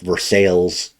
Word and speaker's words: Versailles: We have a city in our state that's Versailles, but they pronounce it Versailles, and it always messes me up.